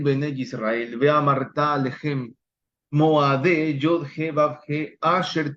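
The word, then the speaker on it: מוֹעֲדֵי: Aquí aparece Moade, o bueno, depende si estuvieran en una academia o instituto rabínico, van a leerlo Moadei, pero en hebreo clásico es Moade, no es Moadei, sino Moade, pero se entiende aquellos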